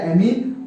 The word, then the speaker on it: ammine: क्या बोलते हैं, एमीन। एमीन की स्पेलिंग यहाँ पर AMM होती है। एक और एमीन पढ़ेंगे जब अपन एमीन चैप्टर, तो वहां पर AMINE लिखते हैं, यहाँ पर AMMINE लिखते हैं, है ना।